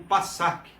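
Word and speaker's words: פסח: A palavra Páscoa é pronunciada como Passak, a palavra hebraica Passak, que significa passar por cima.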